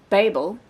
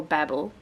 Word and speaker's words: Babel: This is Babel, or Babel, however you want to pronounce it, by Patti Smith.